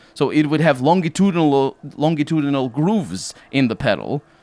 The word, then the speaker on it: longitudinal: it actually has longitude actually in english it's pronounced longitudinal so it would have longitudinal longitudinal grooves in the pedal that would make